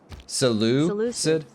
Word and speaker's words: Seleucid: You know, I've never actually known how to pronounce this one, so we're all gonna learn together. Seleucid?